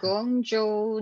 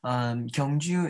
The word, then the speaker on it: Gyeongju: It's the Gyeongju National Museum, isn't it? Do I pronounce it correctly? Uh-huh. Yes, very good. Yes, Gyeongju is a very historical city for Korea.